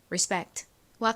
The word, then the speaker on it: respect: 실제 미국식 원어 발음으로는 respect와 같이 발음합니다.